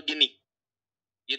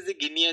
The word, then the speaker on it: गिनी: फिर बता रहा हूं उच्चारण की दृष्टि से गिनिया गिनिया मत करिएगा मुनिया मुनिया मत करिएगा गिनी है गिनी का उच्चारण अगर आपको नहीं पता था तो मैंने बता दिया ठीक है और दक्षिण